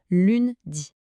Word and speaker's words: lundi: Le petit piège c'est le son 1 qui est un son nasal typiquement français. Il faut essayer de le faire raisonner un peu dans le nez. Répétons ensemble. Lundi.